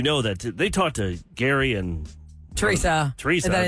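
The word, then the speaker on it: Gerry: Jerry Jerry Gary yeah it's it's Gary but it's spelled g e r r y remember when we didn't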